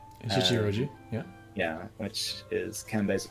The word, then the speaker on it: Shichiroji: Then there's my pronunciation is going to be horrible. Shichiji Roji. Shichiroji, yeah.